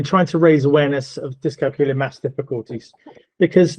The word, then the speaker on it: dyscalculia: Also the name of dyscalculia is really difficult to pronounce and so the best way to explain how it sounds is, it rhymes with Julia. So we're trying to raise awareness of dyscalculia maths difficulties because not